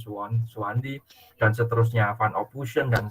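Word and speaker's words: Soewandi: Oke, tadi kan Anda sudah menyampaikan tentang bahasa itu, tentang sistem, simbol, terus kemudian sejarahnya bahasa, mulai dari ejaan Suwandi, bukan Sowewandi ya, tapi Suwandi, dan seterusnya, Van Ophuijsen, dan seterusnya.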